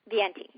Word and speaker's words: Viente: now how do you say your last name viente viente what is that what what nationality is